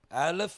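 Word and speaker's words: אלף: பல காரியங்களை கர்த்தர் வைத்திருக்கிறார் இது ரெண்டு விதமான உச்சரிப்பு இருக்குது ஆலப் அப்படின்னு சொல்லுவாங்க அதே மாதிரி எலேப் அப்படின்னு என்ன செய்வாங்க சொல்லுவாங்க ஆலப் அண்ட் எலேப் ஆலப் அப்படின்னு சொல்லும்போது நம்ம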